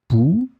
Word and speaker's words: pouls: In this lesson, we will see together two words that are written differently but pronounced the same way. Pouls, pouls.